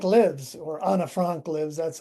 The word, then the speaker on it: Anne Frank: Well, you mentioned I only written a couple of fulllength plays and one of them is called Anne Frank Lives or Anna Frank Lives. that's how she actually pronounced her name.